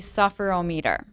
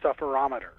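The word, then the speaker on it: sufferometer: you talk about the sufferer ohmmeter what is a sufferer ohmmeter well first off it's it's pronounced the sufferer ometer sufferer ometer mmm-hmm my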